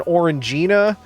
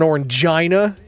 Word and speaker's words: Orangina: a little closer to like an Orangina or an Orangina depending on your pronunciation yes Gina what's up